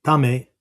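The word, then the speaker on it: 為: perspective opens up, and I can see choices, not limitations. Right? Everything changes. Okay? Next kanji is the kanji tame, sometimes just pronounced i, right?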